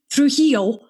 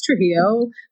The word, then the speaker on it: Trujillo: So I'm like, it's Trujillo, but when you say it, it's Trujillo. But I only, when I'm really trying to put my foot down and be like, I'm actually Mexican, say it like that.